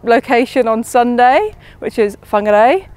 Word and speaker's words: Whangarei: For example, we are moving to a different location on Sunday, which is Whangarei. People are getting thrown, I think, by the WH, so I've just been teaching them that's an F sound.